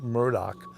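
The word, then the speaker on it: Murdaugh: yeah it's spelled murder like m-u-r-d-a-u-g-h but it's pronounced murdoch just like alex alec baldwin his name is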